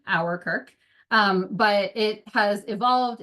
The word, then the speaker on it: Ouwerkerk: about later but uh it started as a way to help people pronounce my last name our Kirk um but it has